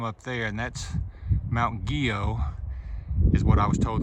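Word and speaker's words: Guyot: It's spelled like Gailhead, G-U-Y-O-T, but they say it's Guyo. But I'm gonna say it's French, so that's how it's pronounced.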